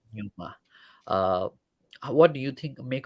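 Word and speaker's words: Danjuma: I think that's how we pronounce his name, right? Yeah, Arnold that's right. Denuma.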